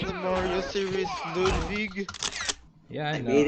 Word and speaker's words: Ludwig: It's actually pronounced Ludwig, like some sort of, like, a old country in Catch you in next time, Europe.